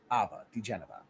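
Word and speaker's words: diGenova: DeGenova, DeGenova.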